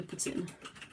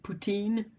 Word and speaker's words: poutine: I think people who say it with more of an English accent will say something like poutine, but it's weird for me to say it like that. It's way too used to hearing it in French Canadian, so yeah, poutine.